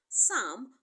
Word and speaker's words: psalm: Psalm contains letter P but the P is silent.